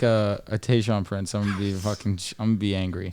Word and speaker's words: Tayshaun Prince: If you hit me with like a Tayshaun Prince, I'm gonna be angry.